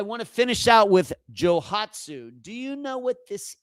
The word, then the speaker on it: Johatsu: Jouhatsu, at least that's how you say it in English, j o h a t s u.